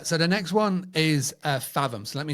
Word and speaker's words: Fathom: So the next one is Fathom. So let me spell it for you because my British accent.